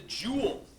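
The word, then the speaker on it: joule: We measure work in a unit called the jewel because work depends on force and distance. Right? Work equals F* D. Rhymes with cool.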